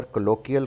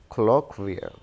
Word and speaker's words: colloquial: इस लफ्ज़ को हम अक्सर कोलोकियल, कोलोकियल कहते हैं। This is नॉट कोलोकियल, this is colloquial, colloquial, colloquial.